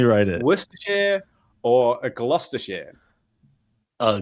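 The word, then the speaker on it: Gloucestershire: wait let me write it Ware or a gluster share a gluster share yeah okay that one's probably kind of easier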